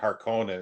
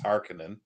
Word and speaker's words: Harkonnen: That's why I said it's not Harkonnen, it's Harkonnen is the correct pronunciation.